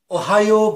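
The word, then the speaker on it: おはよう: Di antaranya, Ohayo gozaimasu. Ohayo gozaimasu artinya selamat pagi, good morning. Ohayo dibacanya panjang.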